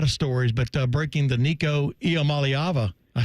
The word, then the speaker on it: Iamaleava: You know him best as, you know him best for a lot of stories, but breaking the Nico Iamaleava.